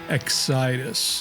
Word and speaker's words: Xidis: Excitus.